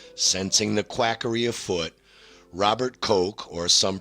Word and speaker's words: Koch: 1884 to 1890 sensing the quackery afoot Robert Koch or some pronounced Koch saw the same obvious flaw you see and